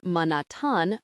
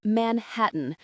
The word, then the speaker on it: Manhattan: Not Manatan, but Manhattan.